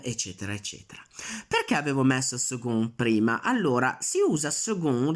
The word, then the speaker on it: second: La cosa che va ricordata su second è che la pronuncia è second con la G, non con la K. Quella C va letta G, va letta più morbida. Quindi si legge second.